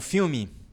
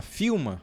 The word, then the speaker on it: film: Lembra dos dois L's? Tem que ficar em cima a língua, ó. Film, film. Porque se eu tivesse deixado assim, ó, filma, aí tá errado.